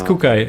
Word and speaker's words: Kekuy: Okay, yeah, I actually asked him because I wasn't sure how to pronounce him. This was one of the first matches I ever cast for Unification. He was in it, was like, hey, how do I pronounce the name? Yeah, it's Kekuy, he said to me at least.